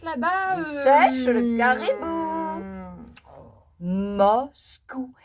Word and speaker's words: Moscou: Moscou. Et c'est facile à prononcer. Ah oui. Moscou, le caribou.